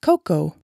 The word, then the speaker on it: cocoa: This A is silent. Hot cocoa.